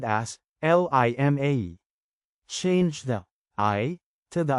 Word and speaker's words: lima: Second, pronounce the letter I, as you would the American letter, E. For example, in Bicol, 5 is spelled as Lima.